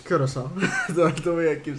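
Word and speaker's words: Curaçao: What is the proper pronunciation of Curacao? Is it Curacao or Curacao? It's Curacao.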